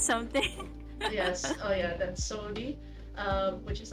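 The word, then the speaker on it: saudade: when it said, I wasn't sure how to pronounce the term for it, which is like sodade. It's something. Yes, oh yeah, that's Sodi, which is like profound melancholy.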